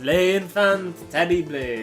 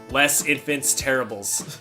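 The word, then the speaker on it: Les Enfants Terribles: game but uh throughout my whole life I've mispronounced leay infant Teddy blade oh that or what and then a SL in M gear SL 5 says less infants Terribles you never were one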